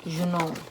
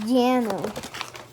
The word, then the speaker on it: Juneau: Alaska, the capital of Alaska is Juneau. It's pronounced Jano. Juneau? It's pronounced Juneau.